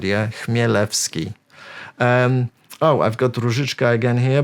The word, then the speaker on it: Chmielewski: So this one is pronounced Chmielewski. So again, you need to forget about that C here at the beginning. Forget about it. Just Chmielewski, yeah? Imagine the C doesn't exist.